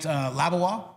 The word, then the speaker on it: Labois: Estevan was Cam Herdlicka and Melville was Clement Labois. Is that how you pronounce that? Yeah. Labois.